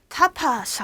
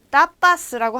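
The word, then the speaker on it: tapas: 따파스라고 하는데 스페인식 안주 그러니까 그 술을 시켰을 때 나오는 주전부리들을 얘기하는 걸 타파스라고 해요. 일종의 뭐 안주라고 얘기를 하는데 요거 타파스 아니고 따파스 된 소리로 발음을 해주시면 됩니다.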